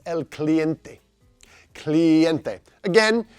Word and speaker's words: cliente: because it's El cliente cliente again use the burrito rule of pronunciation here client add an e on the end cliente and what does the